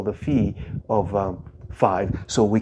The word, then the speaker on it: phi: totient of n or what we call the Fe of n okay some people call it fi but the correct pronunciation is f okay now so we're